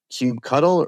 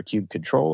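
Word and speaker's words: kubectl: but really important question Cube cuddle or cube control or how do you say uh I'm typically resorting to cube CTL which I know a lot of people are not a fan of but that's not correct wow Cube cuddle Cube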